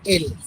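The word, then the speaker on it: elles: But I told you already, in French, last letter generally we cannot pronounce. So we cannot pronounce else. This is L.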